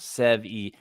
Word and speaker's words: Sevi: I think Sevi is 2 syllables. Sevi.